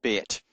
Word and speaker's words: Bet: By the way, I say Beit, but it's really Bet.